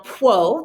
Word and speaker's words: Pwo: This female, Pwo, that's how you say it, like Pwo, you just sort of run that PWO together, Pwo mask.